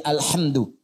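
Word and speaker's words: الحمدُ: Jadi alqus alamid bacaan di karbaah semua para pembacanya itu mendomahkan huruf dal di alhamdu ya.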